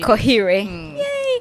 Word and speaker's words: Koheirwe: few minutes what yeah it's it's simple really that you say Koh yay okay so first of